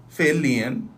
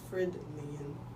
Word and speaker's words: Fairlean: It's, you pronouncing it wrong. But I, It's Fred Lean.